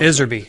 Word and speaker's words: Iserby: And if you look at some of the testimony by a whistleblower known as Asserby, is her name? I forget her full name. I can't pronounce it, but it sounds Iserby.